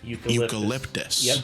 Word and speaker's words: eucalyptus: 9-year-old nephew hands me a Candle jar it's pronounced eucalyptus the kid didn't know he was met with